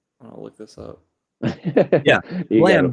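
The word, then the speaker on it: Blame!: Blam, Blame. It's spelled like blame, but it's not.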